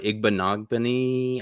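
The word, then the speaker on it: Igbinoghene: Um then Noah Igbanogban I think is how you pronounce it.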